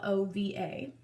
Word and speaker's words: Lilova: So the brand that reached out to me is called, now I don't really know exactly how to pronounce it. I want to say Lilova. It's Lilova.